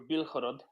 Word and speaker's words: Bilhorod: Belgorod, or Bilhorod, if you prefer the Ukrainian spelling of the name or Ukrainian pronunciation of the name, is a town just across the border from Kharkiv.